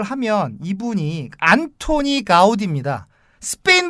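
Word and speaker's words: Antoni Gaudí: 이까 스티어 발음으로 하면 안토니오 가우디 입니다 그 영어식으로 아마 안톤 가우디가 되요 근데 저는 이 여기에 달러 약 이 때문에 안통 가우디 도 아니고 안토니오 가우디 도 아니고 저는 안토니 가우디 라고 불러야 될 것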